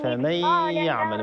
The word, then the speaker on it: فمن يعمل: فمن يعمل ما ننطقوش النون، هذا إدغام، ما ننطقوش النون، ما نقولوش فمن يعمل هكذا، فمن يعمل فمن يعلم